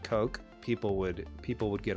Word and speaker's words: Coq: I I think if they just said it's pronounced Coke people would people would